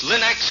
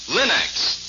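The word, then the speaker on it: Linx: Your fine furniture, for example, always looks its gleaming best when you use Linux cream polish, the furniture aid that gives a handsome luster in half the time.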